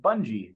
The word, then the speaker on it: Bunje: to meet you V my last name is pronounced Bungie like sort of like it looks Bungie oh Bungie